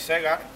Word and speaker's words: Segar: Elsie Segar se pronuncia igual que Segar, por eso siempre firmaba con un puro.